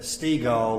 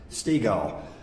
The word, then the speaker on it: Stiegel: I don't forget it because Dad said Stiegel like beach ball. So that's, if you get confused, that's how you pronounce Stiegel.